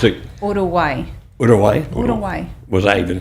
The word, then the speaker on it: Uruguay: Daughters are calling me Uruguay or again pronounce it Uroay.